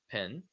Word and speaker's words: PIN: So this one, you pronounce it as a word, pin, P-I-N, pin, and it means personal identification number.